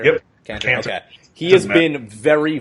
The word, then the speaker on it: Kanter: So Kanter, that's how you pronounce it, right? Kanter? Yep. Kanter.